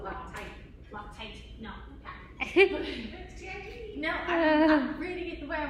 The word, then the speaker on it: Loctite: I'm calling it Loctac. I don't care if it's spelled Loctite. Loctite.